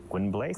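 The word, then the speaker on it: Gwynbleidd: In English it will be pronounced how? Gwynblade?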